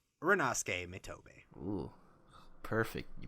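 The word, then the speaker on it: Rinnosuke Mitobe: But, moving on to the starting center for Seiren High, it is the 6'1", 172-pound number 8 Rinosuke Mitobe. Ooh, perfect. You pronounced it perfectly.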